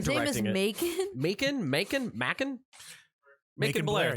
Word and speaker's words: Macon Blair: Macon Blair, thank yeah. you. You're right. Making Because Because it's spelled like bacon, pancakes. but with an Make the M bacon instead of and a B.